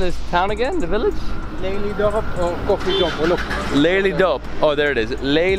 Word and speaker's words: Lelydorp: the name of this town again the village lady dope oh there it is Leigh Leigh dope of